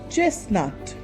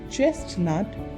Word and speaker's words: chestnut: Chestnut. It is not chestnut, it is chestnut.